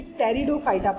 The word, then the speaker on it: Pteridophyta: फिर Bryophyta, Pteridophyta, इसे Pteridophyta पढ़ते हैं, P is silent.